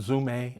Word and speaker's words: Zome: I call them Zume. I'm sure you pronounce them different.